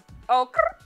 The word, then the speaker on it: Okurrr: You have to say it right. Okurrr. Yeah. Like, it's like okay and girl in one.